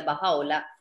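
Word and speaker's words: Bahá'u'lláh: doble l h que es baja ola se pronuncia bajado la significa la gloria de dios y es él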